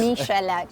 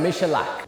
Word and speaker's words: Michalak: I don't know how to pronounce that. I'm sorry, you do this. Michalak. So Michalak.